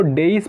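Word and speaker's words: dais: इसको डेइस पढ़ा जाता है एग्जैक्टली, ठीक है।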